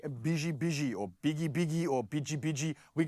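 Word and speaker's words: bici: So it's spelled B-I-C-I, and it's pronounced biji. So you were right. Not pichi like the South Africans. No, listen, yes, South Africans say, Keme bichi. No, Okay. it's biji. Biji, and not biggie.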